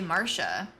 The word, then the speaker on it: Marcia: Um stance you you've always pronounced uh Marsha as Marcia. Have you been mistaken? I talked about this with a friend of mine and apparently it is actually Marsha even though Marcia could also appear to be correct.